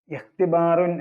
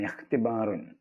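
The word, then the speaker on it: اختبار: എഴുതിവെക്കുക പിന്നെയുള്ള ഒരു പദം ഇഹ്തിബാറുൻ എന്നാണ് ഇഹ്തിബാറുൻ അതിലെ ഇ ഉച്ചാരണം ഇല്ലാത്ത ഇ ആണ് ചേർത്ത് വായിക്കുമ്പോൾ ഉച്ചാരണം ഇല്ല തുടങ്ങുമ്പോൾ ഇ കൊടുക്കണം ഇഹ്തിബാർ എന്ന് പറഞ്ഞാൽ പരീക്ഷ എക്സാമിനേഷൻ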